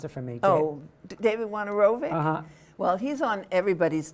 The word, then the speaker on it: Wojnarowicz: And David, pronounce it for me. David Wojnarowicz?